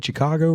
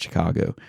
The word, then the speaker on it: Chicago: She can't stand how I say Chicago. And I do it. I don't even think about it. I quite literally, in fact, one of my students called me out on it today because I said something about Chicago. And she was like, you mean Chicago? And I was like, yeah, Chicago. That's what I'm saying. That's what I said. I said Chicago.